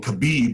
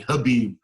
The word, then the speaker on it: Khabib: There's fighters like Shnie Bones Jones, uh Conor McGregor, uh was it I keep saying Kabib, but it's actually Khabib um Menov.